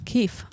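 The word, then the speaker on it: kief: do you spell that k-i-e-f keef like chief keef okay so um they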